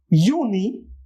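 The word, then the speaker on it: Juni: this one is simple my uni because J is here remember uni this one is Julie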